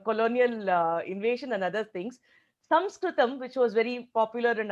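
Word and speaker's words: संस्कृतम्: So, bare minimum, we should call it as Sanskrit. Sanskritam is the ideal Samskrita pronunciation. Even if not, we should call it as Samskrita, Sanskrit, etc. Never as Sanskrit because it is a demeaning statement according to a lot of learned scholars.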